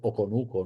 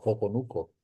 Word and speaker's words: Oconuco: Como vieron en las crónicas de Pedro Tomás de Córdoba, su grafía original era sin h porque no es un eh aparentemente la pronunciación eran eh ha sido oconuco, no coconuco desde el principio.